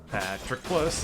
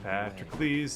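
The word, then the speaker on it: Patroclus: to save the run patrick plus is how you actually pronounce his name patrick please is not the real name at all with all my mind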